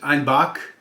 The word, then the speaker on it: Einbeck: dialect of German there, they pronounce Einbeck, which is E-I-N, then B-E-C-K. You'd think Einbeck. They pronounce it Einbach.